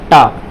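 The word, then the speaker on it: talk: अब देखिए के से पहले क्या है, एल है, तो एल क्या होगा, साइलेंट होगा। तो क्या हो जाएगा, टाक। इसको टाल्क नहीं बोलेंगे, क्या बोलेंगे, टाक बोलेंगे।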